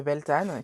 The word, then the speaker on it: Beltane: une rapide explication de belthane qui effectivement ou Beltane peu importe quand vous voulez le prononcer qui est effectivement le